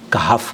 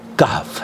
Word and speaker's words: کہف: صحیح پروناؤنسیشن ہونی چاہیے۔ اکثر ہمارے یہاں میں بھی کئی مرتبہ کہف کہہ دیتا ہوں، لیکن صحیح تلفظ اس کا کہف ہے، ہا کے اوپر جزم ہے، زبر نہیں ہے، کا ہا ف نہیں پڑھنا چاہیے۔ تو وہ حدیث کیا